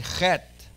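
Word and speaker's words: חית: Say with me, chet. Now a chet is a very strong guttural. Say with me, chet. And a chet is pronounced in the back of the throat on top. Chet. Chet.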